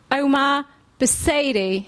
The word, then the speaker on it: Omar Busaidy: So please welcome Omar Busaidy. Yeah. Did I pronounce that right?